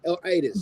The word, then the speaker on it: Itis: Am I pronouncing that correctly? Itis.